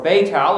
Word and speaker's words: Beit El: the South even to Bethel or beit el as it's called in the land unto the place where